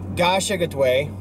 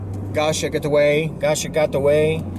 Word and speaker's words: Kasha-Katuwe: It's not pronounced Kasha-Katuwe, it's Kasha-Katuwe. Kasha-Katuwe, something like that, because I wonder if they were evacuating.